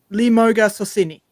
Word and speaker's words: Lemauga Sosene: For those that don't know, I am part Samoan, and I'm gonna try and pronounce the name without sounding drunk. Lemauga Sosene.